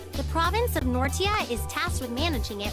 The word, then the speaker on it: Nortia: of my shoe that's right the province of nortia is tasked with managing it while grinir mines refines and processes the IR it's pronounced nordia I thought it was Nora an iron is the single most vital natural